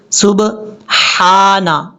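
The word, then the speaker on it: سبحانك: کے بعد ہا ہے، یہ ہا کلیئر پڑھا جاتا ہے بریک ساؤنڈ کے ساتھ۔ کیسے؟ سبحانا، اس طریقے سے۔ اور لوگ کیا غلطی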